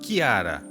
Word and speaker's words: Chiara: Seu nome, em italiano, se pronuncia como Chiara, mas ela pode também ser chamada como Clara, a tradução em português.